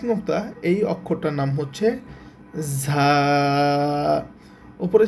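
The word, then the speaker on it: زاي: আচ্ছা উপরে এক নুক্তা এই অক্ষরটার নাম হচ্ছে ঝা উপরে যে এক নুক্তা এই অক্ষরটার নাম হচ্ছে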